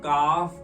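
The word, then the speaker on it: calf: जो हमारा पार्ट है उसको हम कफ कहते हैं सी ए ल एफ ल हमारा साइलेंट राहत है चलिए के के बाद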